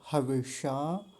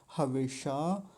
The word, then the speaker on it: हविषा: और हविषा, मूर्धन्य शकार का यहाँ विशेष ध्यान रखेंगे, हविषा।